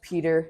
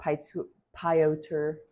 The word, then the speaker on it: Peter: So that is Peter. It's not Piotr or anything like that.